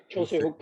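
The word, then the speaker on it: Joo Se-hyuk: find the Schlager against Joo, how do you pronounce his name? Jose Hook? Jose Hook, yeah.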